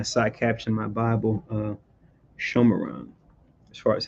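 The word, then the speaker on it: Shomron: I think I have my side caption in my Bible, Shomeron, as far as how to say it in the Hebrew.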